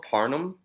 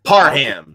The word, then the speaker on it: Parham: Donald Parham. I don't know how to say it. Okay. Parham. He put it on Twitter. Parham. You're welcome.